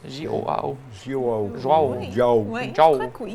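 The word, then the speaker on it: João: Donc, une photo en plein travail avec Joao. Je ne suis pas sûr de la prononciation. J-O-A-O. Ah, C'est J-O-A-O.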